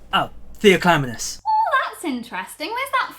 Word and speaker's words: Theoclymenus: Sorry, you're gonna have to help me with pronouncing your name. Oh, Theoclymenus.